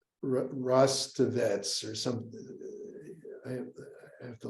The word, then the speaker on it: Rostovtsev: There was a Ukrainian historian, I always have trouble pronouncing his name, Rostovets or something. I have to look up the Ukrainian classicist who taught at Yale, Rostovtsev.